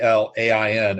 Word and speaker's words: Alain: They would spell it Alain, and it's pronounced Alain.